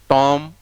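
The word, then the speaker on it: tomb: के साथ लिखा, कॉम, टॉम, वॉम्ब। नो, पहली बात तो चारों में बी साइलेंट है। दूसरी बात, इसमें ओ की ध्वनि है, लेकिन इसमें लॉन्ग ऊ का है, ऊ, टूम, वूम।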